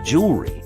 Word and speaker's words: jewelry: we say vegetable and then there's jewelry apparently with four syllables that's too many so we only use two of them it's not jewelry it's jewelry there are